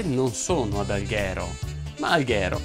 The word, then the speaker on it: Alghero: sono ad alghero ma alghero si pronuncia con l'aj aperta disclaimer si pronuncia così e comunque la mia